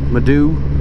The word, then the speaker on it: Moydow: If you're basing it on the Irish spelling, pronunciation is Maidu.